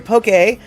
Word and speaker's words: poke: Poke, Hawaiian for to slice or to cut crosswise into pieces, sometimes written as poke to aid pronunciation as 2 syllables, is a dish of